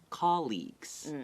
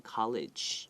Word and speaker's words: colleague: So coworkers, you can also use the word that a lot of people use, colleagues. Okay, colleagues is C-O-L-L-E-A-G-U-E, and 复数就加 s. Okay, 那这个不要念 college，因为我有很多朋友会这样讲。